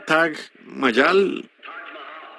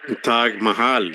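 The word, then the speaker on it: Taj Mahal: Hotel Tag Mayal. Tag Mahal. Sí, en todo caso.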